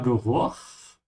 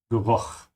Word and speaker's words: Geruch: In this case, the CH is pronounced with a ch sound, with a vibration in the back of your throat, because it comes after a U, like Buch, Geruch.